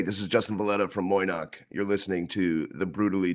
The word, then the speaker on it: Moy'noq: Yeah, we just we say it phonetically. It's just Moch.